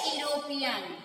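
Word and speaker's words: European: My mother is dash यूरोपियन। अब देखिए ई लिखा है तो इसका मतलब आप इधर एन नहीं भरेंगे, इसका उच्चारण देखिए यूरोपियन, य आ रहा है, इसीलिए हम यहाँ पर ए भरेंगे।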